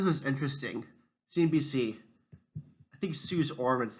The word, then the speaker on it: Suze Orman: CNBC, I think Suze Orman is how you pronounce her name.